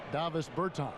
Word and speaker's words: Bertans: Oh, well, now, at this point in my life, it's Davis Bertans. Is that how you say his name? Yeah. Davis Bertans.